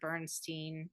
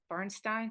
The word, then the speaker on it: Bernstein: Bradley Cooper made it's a biopic about Leonard Burnstein Bernstein Bernstein how do you say it Leonard Bernstein